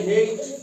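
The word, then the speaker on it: hate: निकलती लेकिन रूल के मुताबिक हमने इ को साइलेंट रखना है जैसे हेट एच एटी हेट है ना अगर ई की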